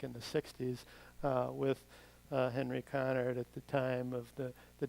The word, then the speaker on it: Conard: And the property takes its name from Henry Conard, who I'll say more about in a second, and you often see it mispronounced as Conrad. It's Conard.